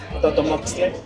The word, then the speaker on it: totomoxtle: You can pronounce it totomoxtle. Totomostoli. You got it. Totomosple. You got it.